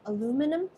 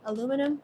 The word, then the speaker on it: aluminum: aluminium in it Alum Americans say alumin aluminum we non-americans say aluminium let me know how you say it aluminium aluminum let me know so